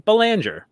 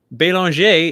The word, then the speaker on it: Belanger: silico paid the pronunciation I professionally and and in my everyday life in America do pronounce my last name Bollinger which is how your family pronounced it right growing up however Balin J is the proper French pronunciation when I talking about